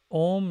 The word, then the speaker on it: Om: oh okay yeah uh om is asking i think that's how it's pronounced a a-u-m that's actually the correct pronunciation of um it's not oh you